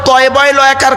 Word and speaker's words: তালাক: এই তালাক আর তলাক মনে আছে? হ্যাঁ। শব্দটা তালাক নয়। শব্দটা হলো তলাক। স্বামী স্ত্রী ঝগড়া করতে করতে কি দেয়? তালাক দেয় না। ওটা তালাক নয় শব্দটা। লামারিফ। বাংলা উচ্চারণ হল তলকার ক।